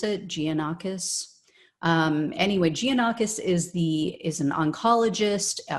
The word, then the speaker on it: Giannakis: Marios Giannakis, I believe is how you pronounce it, Giannakis.